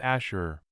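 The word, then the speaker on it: אשור: ancient Phoenician City Assyria the Hebrew word is pronounced Asher it denotes the ancientist Syrian Empire and people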